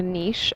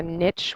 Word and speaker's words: niche: in grade nine uh people talk about a niche I would prefer to pronounce it that way even though you might have heard it called a niche which is such an anglophone way of pron